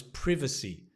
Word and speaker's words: privacy: that came up was privacy uh privacy priv not priva but priva privacy privacy concerns so being concerned about